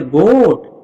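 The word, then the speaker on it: goat: ओ के तुरंत बाद ए आया क्या? तो ए पढ़ा जाएगा नहीं। ए साइलेंट होगा। तो यहां पे इसको पढ़ेंगे गोट।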